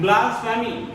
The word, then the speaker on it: blasphemy: फिर उससे नीचे लिखा है ब्लास्फेमी, BLASPHEMY, BLASPHEMY, ब्लास्फेमी बोलते हैं इसको, ब्लास्फेमी प्रोनाउंसिएशन।